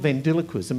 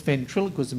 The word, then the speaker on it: ventriloquism: No, it's not. It's not vendiloquism. It's ventriloquism if you say it properly.